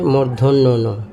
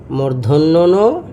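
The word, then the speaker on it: মূর্ধন্য ণ: সেটাও দেখাব দেখুন এই যে প্রথম বর্ণটা হচ্ছে মর্ধন্য। অনেক সময় এই বর্ণ উচ্চারণের ক্ষেত্রে আমাদের এই বর্ণ আরেকটা হচ্ছে এইযে দুইটা বর্ণ সুন্দর করে লিখে দেখাই। এইযে আগে বর্ণ দুইটা লিখলাম। একটা হচ্ছে মর্ধন্যন আরেকটা হচ্ছে দন্তন।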